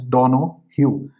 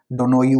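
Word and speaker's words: Donoghue: Yes, the pronunciation is Donohue versus Stevenson, so that you don't make an ass out of yourself like I have done in the past on YouTube.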